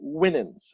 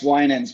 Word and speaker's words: Winans: kindness and today I have with me Kol winnings I should have asked him how to pronounce his last name before we started recording